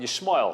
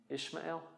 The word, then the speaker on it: Ishmael: At one point, Hagar and Yishmael. How do you say Hagar in English? Hagar. Hagar? Hagar. Hagar. Hagar. Hagar. And Yishmael would be Ishmael. Sounds funny in English.